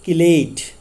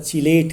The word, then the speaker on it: chelate: लेकिन किलेटिंग ligand as the name stated किलेट, इसको कहीं पे प्रोनाउंस किया जाता है चिलेट करके भी बोलते हैं. तो मोस्टली जो एक्सेप्टेड किलेट करके हम यहाँ पर बोलेंगे.